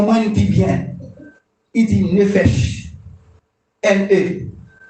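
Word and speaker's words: nephesh: Il dit nefesh.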